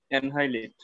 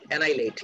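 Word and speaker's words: annihilate: এ দিয়ে ওয়ার্ডটা অ্যানহাইলেট। অ্যানহাইলেট না রে বাবা, অ্যানাইলেট, এইচটা সাইলেন্ট। হ্যাঁ, ওরা অ্যানাইলেট, এক্স্যাক্টলি, দে উড অ্যানাইলেট।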